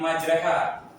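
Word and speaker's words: مجراها: Contoh yang di surat bismillahi majreha ya. Kenapa jadi majreha? Nah, itu ada ilmunya lagi. Harusnya kan ditulisannya majroha ya, tapi dibacanya maj ini fihairin atau bisa dibaca bikhair.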